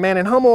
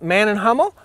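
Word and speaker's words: Mann+Hummel: Man & Hummel? It depends on where you're from. Okay. So if you're from Germany, you'll say Man & Hummel.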